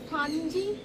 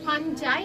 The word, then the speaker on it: fungi: আবার কোথাও কোথাও দেখবেন ফাঞজাই বা ফাঙ্গাই বলেও লেখা থাকবে। আসলে এই যে ইংলিশ স্পেলিংটা সেটা হচ্ছে এফ ইউ এনজি আই। এবার সেক্ষেত্রে এটাকে কিন্তু ফাঞজি উচ্চারণ করে কেউ ফাঞজাই উচ্চারণ করে।